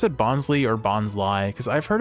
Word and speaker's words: Bonsly: you a nickname now when we see bonley and we think of bonsai maybe that's why it's pronounced bons cuz it's Bonsai it's based on the bonsai tree uh but we're just